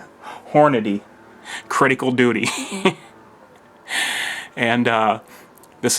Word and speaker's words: Hornady: about now what I carry in is the Hy Hy don't know why I pronounced that wrong Hornady Critical Duty and uh this is the 135